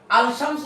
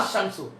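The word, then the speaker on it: الشمس: এখন এই যে কোন কোন জায়গায় গিয়ে লামটা উচ্চারণ হচ্ছে না। যেমন উদাহরণ আলশামসু বলে সুন্দর হচ্ছে না। আশশামসু এখানে অনেকগুলো শব্দ আমরা দেখতেছি যেখানে লাম যুক্ত আল যুক্ত করার পর লামটা উচ্চারণ হচ্ছে না।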